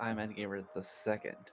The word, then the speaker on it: IMAD Gamer II: It's actually pronounced I'm Gamer the second.